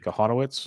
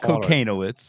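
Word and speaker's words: Kochanowicz: you're starting Angels your boy how do you pronounce it properly konowitz konowitz not not cocoz I always call I always call himo yeah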